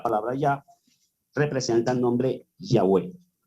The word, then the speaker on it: Yahweh: en los versículos y que en la pronunciación original del hebreo verdad la más antigua y y la más certificada por erudito filólogos y y entendidos en en escrito sagrado antiguo nos han transmitido que Yahweh es la pronunciación correcta es más tenemos inclusive